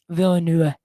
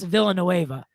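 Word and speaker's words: Villeneuve: directors dennis uh villainy help me pronounce his last name bella nivea villanue villa villanueva but every single the crude americanization was just dennis villanueva right that's the crew that's americanized version of that so so well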